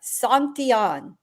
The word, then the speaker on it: Santillan: I mean, most people don't know who he is, and most people still can't pronounce his name right. Santillan, Giovanni Santillan.